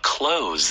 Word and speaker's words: close: As or you can year, say, as the year comes to a close. Oh, close. 똑같은 표현이죠. A close. A close. C-L-O-S-E. 근데 네. S가 Z 발음이죠.